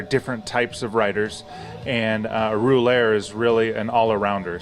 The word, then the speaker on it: Rouleur: of cyclist right yeah it's a French word it's pronounced ruler overseas but it's a type